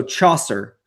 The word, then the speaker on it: Chaucer: Name pronunciation is Saucer with the ch sound. So Chaucer.